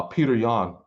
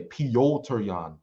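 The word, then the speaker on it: Petr Yan: let's move on to the next fight uh peter young well i said peter uh alderman sterling versus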